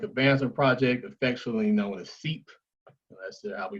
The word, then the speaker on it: SEEP: sudden southern economic advancement project affectionately known as seep we pronounce their acronym you know they amplify the